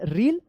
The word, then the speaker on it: reel: अलग उच्चारण होता है, इसको पढ़ेंगे रील, क्या पढ़ेंगे, REEL रील, और इसको पढ़ेंगे REAL रियल।